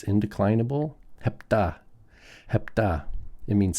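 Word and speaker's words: ἑπτά: Hepta. Hepta. It means 7. Now notice, this is the first word we have in our vocab in this chapter that has a rough breathing.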